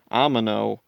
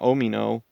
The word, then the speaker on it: Omino: and also like just the way they pronounce it is Amino, not Omino.